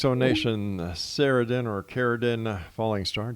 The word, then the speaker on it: Cerridwen: All right, X Zone Nation, Cerridwen or Cerridwen Fallingstar. Jeez, did I get her name wrong all this time? Cerridwen. I thought that would have been with a K.